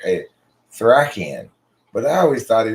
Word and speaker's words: Thracian: It's pronounced Thracian, as in someone from Thrace.